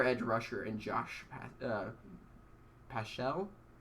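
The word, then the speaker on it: Paschal: rusher and josh uh paschell how do you pronounce that pascal pascal yeah i think so okay and you get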